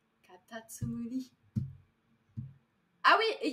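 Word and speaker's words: かたつむり: Et attendez, comment on le prononce déjà? Katatsumuri. Katatsumuri.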